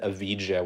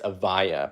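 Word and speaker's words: Evija: It wasn't Avija, whatever I said. It's Avaya, but I had never like pronounced it before, so that was what you guys got.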